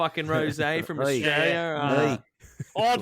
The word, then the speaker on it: Rosé: tell me where the Rose is Rose and i' be like you've got a text from your Ms don't you they like yes it's pronounced Ros and it's right here